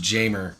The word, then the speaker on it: Jammer: It's pronounced Jamer, but yeah.